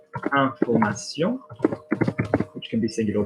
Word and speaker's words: information: So for example, if I said information, which can be singular or plural in French, okay, or informer, verb, informer. I'm saying the A like I had in le vin.